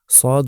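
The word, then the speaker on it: ص: অনেকটা কাছাকাছি মনে হলেও সদ উচ্চারণ করতে হয় একটু গলার গভীরে নিয়ে একটু মোটা করে আর সিন উচ্চারণ করতে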